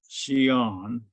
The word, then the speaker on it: Xi'an: food was about here, the place where we call Xi'an, and that is spelled Xian.